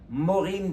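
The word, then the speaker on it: מוֹרִים: on dit les rebelles morim shimim ça s'écrit myiam mais avec les voyelles autres pour lire morim des rebelles tout ça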